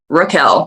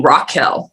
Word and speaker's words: Raquel: me one day and she kept saying my name is rookell like r a q and she always called me rock hill well then one day